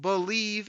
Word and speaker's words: Bleav: It's called Believe in Lions, and that's spelled BLEAV on the Believe Podcasting Network with both myself and Lions legendary safety Benny Blades.